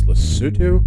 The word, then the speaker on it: Lesotho: how they pronounced it I believe it's Lesotho but it's it's it's